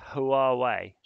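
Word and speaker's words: Huawei: it's spelled hua WEEI if you split them apart it it kind of looks more sensible to your brain yeah and at least you could say who are way which is kind of not too far off it but yeah all sorts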